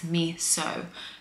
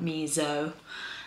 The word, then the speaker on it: miso: And like really good authentic miso at miso. I have to stop saying miso. It's been a really, really bad habit of mine. I just keep doing it. It's miso, not miso.